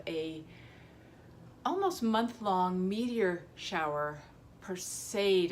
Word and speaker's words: Perseid: Perseid, I believe is how it's pronounced.